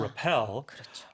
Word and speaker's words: repel: careful of the pronunciation the stress is on the second syllable so it's a Repel uh and also distinguish